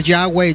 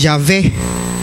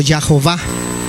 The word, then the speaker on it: Yahvé: Muchos dicen que se debe de pronunciar Yahweh. Yahweh es equivocado porque no existe la W en el hebreo, es la B, es Yahvé o Yahová.